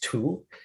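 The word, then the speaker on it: 荼: cha before that the character for t is pronounced tu and tu just means a certain kind of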